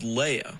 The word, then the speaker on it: Leia: this character who is sometimes called Leah sometimes called Leia or this character H